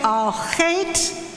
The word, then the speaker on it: Al Chet: The guttural ch is found in Hebrew, Yiddish, German, and Spanish, but not in English.